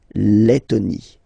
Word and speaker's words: Lettonie: So remember when you've got this E and then a double letter like that, T, okay, then you will have to open your E and it will become E, les, Lettonie.